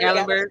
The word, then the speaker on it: Gatlinburg: Still in Tennessee, but it's in how you pronounce it? Gat Gaitlinburg. Gatlinburg.